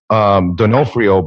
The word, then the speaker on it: Donofrio: So is it Donofrio? You're actually right. Which one? The first one or the second one? Donofrio. Oh, Donofrio. Yeah, the first one. The way, okay. Yeah, the way you're pronouncing it is right. Most people don't, though. Most people say Donofrio or DeFornio or some other kind of.